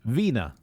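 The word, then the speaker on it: Wiener: i e e I it's always the second one in English that you should pronounce so the top one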